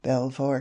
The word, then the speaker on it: Belvoir: to take your beaver," alluding to Belvoir Castle, the splendid seat of the Duke of Rutland, which in the language of the clay is pronounced precisely in the same way as the name of that animal whom man robs of